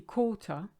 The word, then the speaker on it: quart: Now, if you look at the word quart, it's actually quarter, but with the French phonetic being the way it is, the QU is a K, quart, and you don't say the T, silent letter.